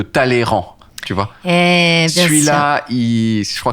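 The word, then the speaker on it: Talleyrand: classe il y a le y en milieu de mots qui se prononce pas celui de talleyran tu vois celui-là je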